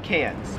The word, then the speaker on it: Cairns: it wouldn't matter because the australian accent just leaves the r off if it's ever in the last syllable of a word so you would pronounce melbourne melvin and you'd pronounce carrick i don't know i don't know bro it's cans let me know in